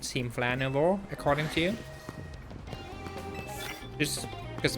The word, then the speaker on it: Nouveau: Right, so we'll quickly go do that, and then we'll go deal with Team Nova Flare. No. Team Flare Nouveau. That's how you say it.